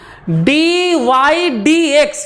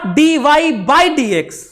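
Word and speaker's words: dy/dx: को, dx ऑफ y या फिर dy dx, नॉट dy बाई dx। इसको क्या नहीं बोलेंगे हम लोग, dy बाई dx नहीं कहेंगे। सही प्रोनाउंस क्या करते हैं, प्रोनाउंसिएशन क्या है इसका, dy dx नॉट बाई।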